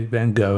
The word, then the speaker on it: van Gogh: everyone is talking about it's okay if you want to be a little bit snobby or a little bit Dutch or whatever and want to say his name has been something else that's okay but we say van Gogh and everyone gets along fine starry night was